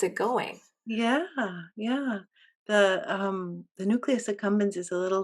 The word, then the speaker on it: nucleus accumbens: Hmm, I'm not pronouncing this right. Nucleus accumbens power. Yeah, the nucleus accumbens.